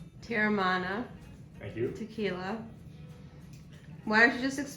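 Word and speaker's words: Teremana: My personal favorite is pronounced Terramana.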